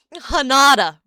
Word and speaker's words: Hinata: Hanada.